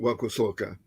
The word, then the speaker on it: wakosoka: So my accent should have been on the last syllable. Wakosoka. Sorry, Tata David. My accent should have been on the last syllable then.